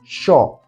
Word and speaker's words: yo: But in Argentina, Y plus a vocal is pronounced as sho, as in she in English, right? She. So we say Y and O would sound as sho.